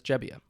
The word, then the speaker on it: Gebbia: family was from and found out that they actually say jebia there oh so he has actually changed how he pronounces his last name and so now his last name is jebia that that Teresa judice